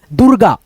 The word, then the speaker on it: दुर्गा: जिस अक्षर पे ये मात्रा रेफ का लगेगा उस अक्षर से पहले इसका उच्चारण र में हो जाएगा। दूरगा दुर्गा। दुर्गा आधा पढ़ना।